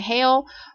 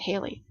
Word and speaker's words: Halle: saying her name right i've seen people say karina hale but i watched a video with her and i i think she she pronounced it hayley if not i apologize